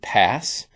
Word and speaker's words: PaaS: for what you use now there's also paas some people will just pronounce it pass platform as a service